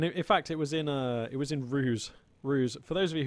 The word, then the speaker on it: RUSE: So, and in fact, it was in Ruse.